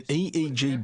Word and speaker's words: EEG: an acronym or an EEG brain scan helps answer that say the Swinburne researchers he says an 88 g that's an abbreviation we don't pronounce it egg we say aeg aeg